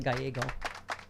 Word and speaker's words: Gallego: It's what I have for breakfast. This guy has an Eggo every morning. Gallego.